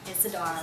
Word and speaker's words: Isadora: in an email uh my name is being spelled as i s e d o r a Isadora because that's how I pronounce it but it's actually